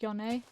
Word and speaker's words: John: My sense of my name is John but pronounced Yon.